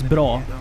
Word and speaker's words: bra: good day uh well one of the words we would use in swedish is bro and that's spelled exactly like bra like the brassiere right so i can't say